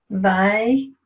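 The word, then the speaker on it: Vayakhel: And it's, if you pronounce it too fast, you'll miss the root word there. Of course, put the vav on the front. You know that means hand. But Yakhel, it's kind of a strange pronunciation because it doesn't really just roll off the tongue the way that it's vowelized.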